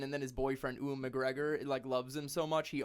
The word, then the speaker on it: McGregor: He goes to prison, and then his boyfriend Ewan McGregor loves him so much he also goes to jail.